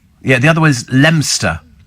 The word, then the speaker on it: Leominster: the other way is lemster spell it's it's it's spelled Leominster but it's pronounced lemster is it where's that